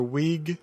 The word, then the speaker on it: Wiig: Again, it is Jessica Chastain, Kristen Wiig, or Wiig, depending on how you want to pronounce it.